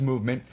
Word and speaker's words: MVMT: of cool plan words it's mvmt but it's pronounced movement it was founded by